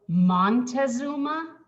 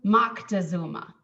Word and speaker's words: Moctezuma: his own language and how how his name would have been pronounced in aztec is closer to moctezuma and so i the